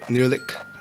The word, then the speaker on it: Nehrlich: Today I'm talking to Nehrlich. Am I pronouncing that correctly?